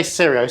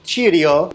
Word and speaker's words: Cirio: I say Sirio. Someone said, oh, it's pronounced Cirio. Cirio, not Sirio.